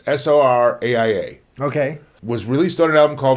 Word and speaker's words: Soraia: Jolene by a band, I believe it's pronounced Soraya or Soraya. It's Soraia.